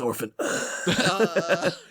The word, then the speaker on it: orphan: You were so proud of your Orpan group. And Mark is pronounced orphan.